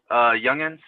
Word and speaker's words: Junghans: Junghans, how do you pronounce that, sir? Youngins, it's however you want to pronounce it, sir.